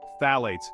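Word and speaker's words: phthalates: from the toxic past might be tagging along phalates say it with me now th eights tricky to pronounce even trickier to avoid these chemicals lurk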